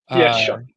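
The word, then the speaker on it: Shough: Shaw, is it Shuck? Shuck is I've been mispronouncing Tyler Shuck for a while. I finally got it down. I just heard it was Shuck uh two hours ago.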